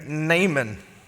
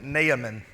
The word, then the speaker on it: Naaman: a very important man there's a guy there named naman or as some people who really like to pronounce every syllable call him Naaman I thought about doing